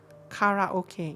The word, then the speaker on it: karaoke: Carrot, Karaoke, yes. Kara. The R is actually on the second, is start on seconds of on the second syllable. But yeah, it's K.